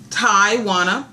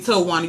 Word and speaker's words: Taiwana: But my name is pronounced Taiwana, but everybody calls me Towana.